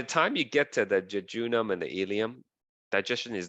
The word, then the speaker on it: jejunum: and then you have the jejunum that's actually how you pronounce it the jejunum is about